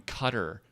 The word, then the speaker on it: Qatar: like like a like a guy from cutter qatar you know it as gets pronounced cutter buys like 500 virgins